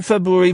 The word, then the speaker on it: February: say you can't say February very well either the implication being I can't say it well I say it properly I pronounced the first of the two RS February February February February I say